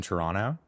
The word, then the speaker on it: Toronto: like born and raised in Toronto. Yeah, wow, you pronounced it right.